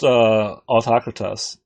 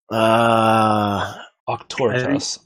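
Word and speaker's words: Auctoritas: Now that's just autocratus, so you can overcome that with miracle could. points. I could. Octoritas, I should say it right.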